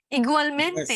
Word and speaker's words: igualmente: igualmente.